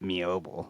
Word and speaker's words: Meoble: Now the crafting hamlet of Mioel pronounced pronounced Mioel is nearly abandoned isolated settlement in South Morar Highland Scotland located on the eastern banks of the river Mville.